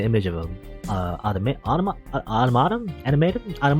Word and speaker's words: Automata: oh yeah okay that they said it automata and apparently that's correct that's a correct way to say - actually I